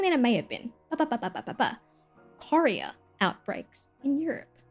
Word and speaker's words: chorea: Chorea outbreaks in Europe. I had to look up how to say this because I thought it was pronounced Korea. It is not Korea.